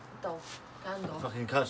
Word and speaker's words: Gandalf: So Gandalf or Gandolf. Let's have a look. Yeah, that's how it's spelled, I isn't think it's it? Gandalf, isn't it? Dolph. Gandalf.